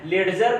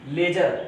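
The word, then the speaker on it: ledger: लेडजर नहीं, लेजर।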